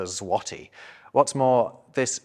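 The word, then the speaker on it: złoty: of people think that the Polish currency is called the zloty when it's in fact called the zwati what's more this letter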